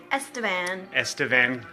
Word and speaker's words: Estevan: I am here in, how do you pronounce, is it Estevan? Estevan, Saskatchewan.